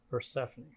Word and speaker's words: Persephone: you say the name of your farm Persephone Persephone so she's a Greek goddess right Persephone is